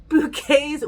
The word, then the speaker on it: Bouquet: In front of Hyacinth Bouquet's white slimline telephone? No, it's pronounced bouquet.